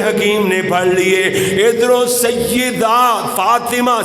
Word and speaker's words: سیدہ: نے پڑھ لیے۔ ادھروں سیدہ فاطمہ، سیدہ نہیں کہنا، سیدہ یاد نیچے زیر پڑے گا تے پھر تلفظ نکھرے گا، خوبصورتی پیدا۔ سیدہ فاطمہ